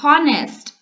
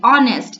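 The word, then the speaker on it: honest: Okay, so answer would be ऑल the three brothers were हॉनेस्ट. Sorry, ऑनेस्ट. इसका जो आप pronunciation करोगे सो यहाँ पे एच साइलेंट हो जाएगा. सो आपका प्रोनाउंसिएशन आ जाएगा ऑनेस्ट.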